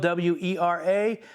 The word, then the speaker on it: Wera: It's spelled W-E-R-A, pronounced Wera because it's a German company.